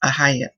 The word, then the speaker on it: Ahiah: But in this tongue, in the English tongue, that is how it's pronounced, Ahiah, okay, which means brother of Yahuwah.